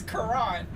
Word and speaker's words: Quran: it's Quran.